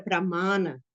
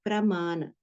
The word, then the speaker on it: pramana: Na verdade, a palavra é pramana. São os tipos de pramana. Então, pramana, essa palavra, ela tem lá no meio dela essa raiz, essa sílaba, ma, com um A longo.